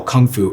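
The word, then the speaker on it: gongfu: because the same terminology Gung fu is how you pronounce what we call Kung Fu in the west we use this word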